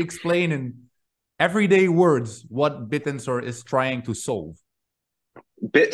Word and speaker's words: Bittensor: to tell us everything about bit tensor and pronounce it correctly right yes bit tensor so yeah tell us a little bit about